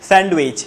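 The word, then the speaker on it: sandwich: আবারও বলি, আবারও একটা খাবার আছে যেটাকে আমরা বলি স্যান্ডউইচ। কি বলি? উচ্চারণ হবে স্যান্ডউইচ। সবাই একসাথে বলি স্যান্ডউইচ। ডিটা কি থাকবে? বলি সবাই, হ্যাঁ ডিটা অনুচ্চারিত থাকবে, বর্ণবিলোপ যেটাকে বলা হয়।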